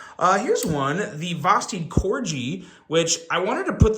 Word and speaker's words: Corgi: Corgi and everyone's like it's Corgi with a soft G I was like okay